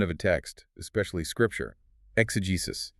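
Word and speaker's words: exegesis: Exugesus. E ge s i s. Excis.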